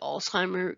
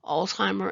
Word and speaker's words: Alzheimer: you the origin but please note it does not have a t in it so this is a